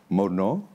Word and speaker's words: Morneau: William Morneau. Is correct yes, pronunciation?